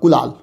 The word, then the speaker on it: کلال: کلال, پہلے تلفظ پہ غور کر لیں آپ. چھوٹی کاف کے ساتھ ہے. چھوٹی کاف کو اصطلاح میں القاف المعارہ بھی کہتے ہیں. چھوٹی کاف کلال, اصل تلفظ جو ہے وہ کاف پہ پیش ہے.